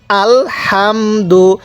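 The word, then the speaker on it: الحمد: আল হামদু আল হামদু এই হা টা উচ্চারণের সময় মুখ দিয়ে হালকা বাতাস বের করব তাহলে আল হামদু আরেকবার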